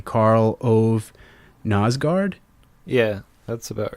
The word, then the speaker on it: Karl Ove Knausgård: were inspired by Anne Carson and hopefully I'm pronouncing this dude's name correctly karl ove knausgård yeah that's about right could you talk about